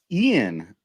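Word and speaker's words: Eayn: It's Ian, but it's spelled E-A-Y-N. It's the male form of the Irish female Anne, A-Y-N. That's my mother's middle name and my grandmother's first name. There we go. Ian.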